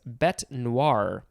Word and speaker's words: bête noire: Next we have black beast, 2 words, noun from 1862, and the synonym is, I'm going to try to pronounce this, bête noire.